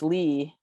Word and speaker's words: Lee: And I'm like, as in Derek and Jackson. like youth, and it's Lee, like Robert E. Lee.